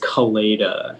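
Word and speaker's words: coleta: all right uh your word is kaleida it's the pigtail worn by a bullfighter can i please have all the information yeah so the only pronunciation is kaleida it's a noun and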